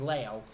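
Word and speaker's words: Liu: his totally weird Behavior I called him Lou his name was Lao my bad this was at a time when the Maro missing person case was still totally front of In fairness his name is spelled l IU that is Lou so I my apologies his name is Leo but it looks like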